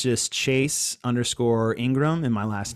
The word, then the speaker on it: Ingraham: it's just chase underscore ingram and my last name is spelled a little different i n g r h i always say i n and then the word gram like graham cracker um my email chase